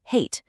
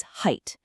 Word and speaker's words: height: Again, the common error is hate. But that's not it. The correct sound is a long i, just like in the words light or right. So, the correct pronunciation is height.